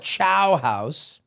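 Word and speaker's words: Ciao House: so this one's called chow house oh c i AO like goodbye in Italian it's on Food Network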